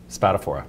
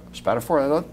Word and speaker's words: Spatafora: Spatafora. Spatafora. Spatafora. Spelled like it's pronounced. Sounds like it's pronounced. Sounds like it's spelled.